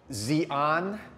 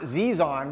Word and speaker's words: Xi'an: States, and that is, I'm gonna pronounce it XI'AN, not XI'AN, which is Z-I-Z-A-N. This is X-I apostrophe A-N.